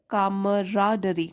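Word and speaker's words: camaraderie: इसको हम कैसे प्रोनाउंस करेंगे? कामराडरी, कामराडरी।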